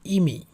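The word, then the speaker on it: 意味: এরপর আসে 4টা শব্দ, কনজুগেট শব্দ যেগুলো, যেমন 1 2 3 4 এর ক্ষেত্রে প্রথমটার উচ্চারণ হচ্ছে ইমি। ইমি, এটা হচ্ছে ই, এটা হচ্ছে মি।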